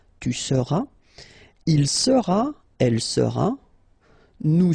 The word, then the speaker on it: seras: All right, then tu seras, final S not pronounced, tu seras.